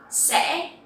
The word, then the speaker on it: sẽ: So here you will see that the tone is dấu ngã and you will have to pronounce very clearly to make this sound correctly. If not, it will sound like dấu sắc.